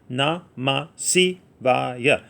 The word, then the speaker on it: Namasivaya: Na, ma, si, va, ya.